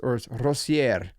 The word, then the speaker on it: Rosier: It's Rosier, because she's from France, right? She's French, Française.